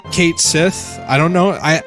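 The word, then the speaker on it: Cait Sith: then I really like Kate Sethe I don't know I I know that the way to technically pronounce his name I think is ketch she or some like that but it's Kate's if we're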